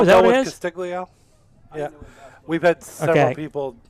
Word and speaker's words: Castiglio: Castiglio. Yeah. We've had several people pronounce it different ways, so that's a difficult one.